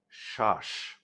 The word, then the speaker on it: শ্বাস: যেমন ধরুন যদি এই বফলা শব্দের প্রথম বর্ণের সঙ্গে যুক্ত হয় তাহলে কিন্তু তার কোন উচ্চারণ আসে না।